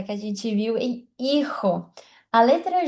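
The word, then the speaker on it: hijo: A letra H igual português não tem não tem som, então é mudo. Por isso que aqui a gente tem a palavra filho, que é irro. Tá vendo que eu não pronunciei? É como se fosse só a letra I aqui, ó.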